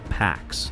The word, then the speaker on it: P4X: He chooses P4X, pronounced like pax, the Latin word for peace.